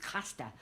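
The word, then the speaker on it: Craster: time I went to a place called Crasta, which is pronounced Casta.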